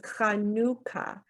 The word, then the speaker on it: Hanukkah: people do an h and in Hebrew it's pronounced hanuka but in Hebrew in English we write Hanukkah